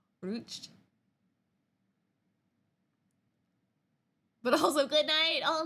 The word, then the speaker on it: Rutsch: Ruched. But also good night. Oh no. Basically, slide into the new year well. Thank you. Guten Nacht. Guten Nacht to you. Guten Rutsch. It is just Rutsch. Guten Rutsch.